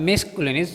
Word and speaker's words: masculine: सबसे पहले आता है मैस्कुलिनस जेंडर।